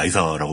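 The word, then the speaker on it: Lysa: 그리고 그 존 아린의 부인이 얘기했다시피 그 리사 아린인데 드라마에서는 리사가 아니라 라이사라고 발음이 나오죠. 네.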